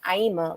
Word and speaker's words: Aima: And so I would always be like, Aima, like Dreamer. And then I was like, that's nice. And, the Dreamer. There it is. Where does that name come from? Aima comes from a book called The Kabbalah.